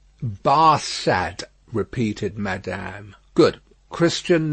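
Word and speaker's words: Barsad: the better his name barca said to farge making it french by pronunciation but he had been so careful to get it accurately that he then spelt it with perfect correctness bar sad repeated madame good christian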